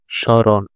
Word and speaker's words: স্মরণ: স্মরণ, ম, মটা কিন্তু উচ্চারণ হচ্ছে না, ঠিক আছে?